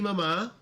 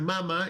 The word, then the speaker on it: mamá: As you can see here, we have mi familia, we have mi mamá, mi papá. Remember, it's not mama, it's not papa.